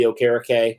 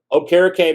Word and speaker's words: Okereke: Another guy we got to talk about is Bobby Okereke. I did say it right this time. I know I messed it up on the live stream, but Okereke, man, I mean, it was interesting.